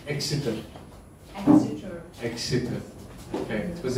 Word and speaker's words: Exeter: Did I pronounce Exeter?